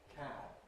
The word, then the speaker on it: cab: So we have various pairs of words in English, such as can and can, where the difference is, again, voicing in the general sense. Can, that's voiceless. Can, well, it's sort of voiced.